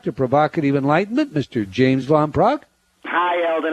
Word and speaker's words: Van Praagh: letters and talking points today but first james von prague is the new york times best-selling author of